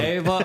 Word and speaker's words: Eva: commentator and lawyer and Ava V Brook vinger you said it wrong it's Eva she's really Eva apologies